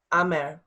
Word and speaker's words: Amer: So my Bosnian first name is Amer. Amer is how you say that. Amer.